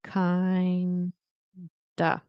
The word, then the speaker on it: kind of: Many native speakers will say kind of like kind of with an a.